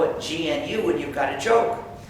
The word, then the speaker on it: GNU: not follow the dictionary if you call it the new operating system you'll get people confused and it's actually not true you see we've been working on it for almost 30 years and we've been using it for over 20 years so it's not new anymore it's not the new system it's the gnu system there's another erroneous pronunciation